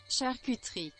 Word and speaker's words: charcuterie: How do you pronounce that? Char cuttery? Let's see what's the proper pronunciation here. Charcuterie. Charcuterie. Charcuterie.